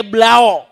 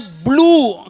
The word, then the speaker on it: blue: Rendem pakaian pakai blau. Tahu blau Pak? Orang sini tahu blau. Ini kagak danta orang Betawi nih. Tulisannya blue, dibacanya blue. Kenapa orang Betawi bilang blau?